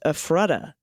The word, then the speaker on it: Ephrata: and him pronunciation correction Ephrata is pronounced afrotta my mom's family was